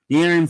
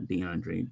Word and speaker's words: De'Aaron: de de DeAndre fox dearon fox not DeAndre de sorry the Aaron